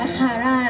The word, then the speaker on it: QRRA: ดี ใจ ดี ใจ ดี ใจ อ่าน ว่า คาร่า นะ คะ เออ เฟล่า คิวล่า ไม่ มี นะ